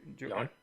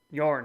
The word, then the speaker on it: Joern: Do the rules that I assume that man, how do you pronounce it? Yawn. Yawn.